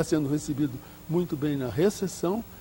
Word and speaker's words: recepção: Mas os portugueses mantêm a consoante, mantêm a consoante escrita e não a pronunciam. Se você for a um hotel em Portugal, você vai ser recebido na recepção.